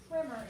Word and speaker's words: primer: One primer, and it looks like primer, but it's pronounced primer in this case.